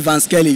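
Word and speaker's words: Vansqueli: Now I spell it Van Skelly.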